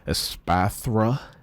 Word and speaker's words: Espathra: show here as far as your attacker goes asatha asatha that's that's how you pronounce it pathra ex uh this is a